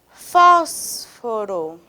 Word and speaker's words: fósforo: Agora a última palavrinha dessas, fósforo. Fósforo. Qual é a sílaba tônica dessa palavra? O fós.